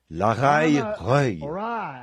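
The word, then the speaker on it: Lachaï-roï: La raille reuil, il se peut que je le prononce mal. L A c h a i trema r o i trema.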